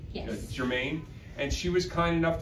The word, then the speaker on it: Germain: Did I pronounce it right? Yes. Good. Germain.